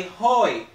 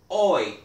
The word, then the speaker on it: hoy: DIA is remember that the Aging in Spanish is silent so we don't say Hoy we say oi Lunes today is Monday if today is Monday